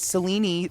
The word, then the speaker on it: Selene: And so I just noticed this yesterday while Darren was playing, but I didn't realize Selene is how they say it. Selene instead of Celine, which is interesting.